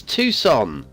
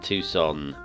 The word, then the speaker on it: Tucson: to myself all morning it's Tucson by a bluey bean Tucson not as I was incorrectly pronouncing it and I'm not even